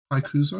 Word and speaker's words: Hakuza: Is it Hakuza? Yeah, you pronounced it right.